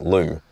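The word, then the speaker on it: Lue: And then the second time was we found a new place to stay which we thought was out at Lou. Now, Lou is spelled L-U-E.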